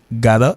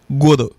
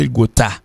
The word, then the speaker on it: gotta: Maintenant, G-O-T-T-A, ça se prononce, il y a deux prononciations. Prononcer gada et prononcer godo. Mais en pile monde qui pas connaît, il prononce gota. G-O-T-T-A, en pile monde prononce gota. Donc, il pas prononcer gota. G-O-T-T-A, pas prononcer gota du tout. Comment le prononcer? Il prononce, il y a deux prononciations. Il prononce gada, gada, gada.